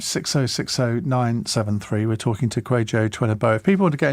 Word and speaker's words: Kwajo Tweneboa: Yeah, so I'm on Instagram, Twitter and TikTok at Kwajo Tweneboa. I changed my act recently, so I had to remember that. And that's spelled KWAJOTWENEBOA.